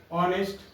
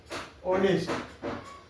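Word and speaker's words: honest: नहीं हुआ, भवेल से शुरू नहीं हुआ, जैसे ऑनेस्ट, आवर। देखिए ये दोनों ऐसे वर्ड हैं जो भवेल से शुरू तो नहीं हुआ, लेकिन इसका जो उच्चारण है वो ऑनेस्ट, और इसका है आवर।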